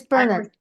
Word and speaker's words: Bernard: It's Bernard, St.